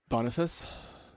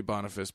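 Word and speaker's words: Boniface: bonifas bonf Bon badui bonifas it could be bonifus but that's not how the Latin pronunciation would be but that's okay Bon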